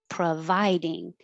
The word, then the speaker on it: providing: shoot don't shoot providing the pro is not stressed and it changes to uh providing thanks for providing the